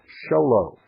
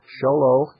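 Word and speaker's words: Show Low: that's PO Box 1420 sholo it's spelled just exactly like it sounds folks it's two words show and low and everybody learns those two words very young in life Arizona 85901 that's pbox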